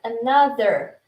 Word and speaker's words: another: Estou ouvindo você falar a palavra another com início e pronuncia de novo, por favor. Another. TH, língua no dente, tá?